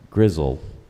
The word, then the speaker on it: gristle: gristle definition please sure gristle sometimes pronounced grizzle gristle is tough cartilaginous